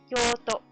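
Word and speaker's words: 京都: Kyoto only has 1 long vowel, though. So, kyo, o, to. That's only 3.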